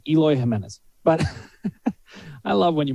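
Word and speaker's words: Eloy Jiménez: we got to get his name right it's eloy jimenez but i love when you miss pronouncing go ahead okay elohim is easy easy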